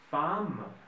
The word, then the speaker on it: femme: de nasal on om bon il y a des des exceptions h par exemple écris-moi s'il te plaît les mots femmes et homme h très bien h N oui exactement c'est femme et homme ce sont les exceptions à cette règle hm hm ce sont